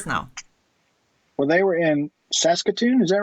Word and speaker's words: Saskatoon: Well, they were in Saskatoon, is that right? Yeah, Saskatoon.